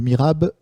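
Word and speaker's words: mihrab: Sachant que Mirab s'écrit M-I-H-R-A-B. Et donc un S évidemment au pluriel, et Brami, B-R-A-H-M-I. Le Mirab, c'est la direction de la Mecque dans une mosquée.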